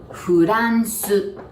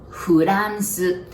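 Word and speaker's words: フランス: And then R, we don't have R sound, so we pronounce it like L.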